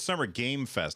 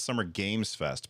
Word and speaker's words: Summer Game Fest: Yeah, well, so when I say Summer Game Fest, and by the way, you're saying it's Summer Game Fest, not Summer Games Fest, but I say it wrong every time.